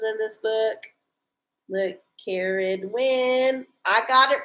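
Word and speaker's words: Ceridwen: it right too you know they get the pronunciations in this book look Karen win I got it right I got the name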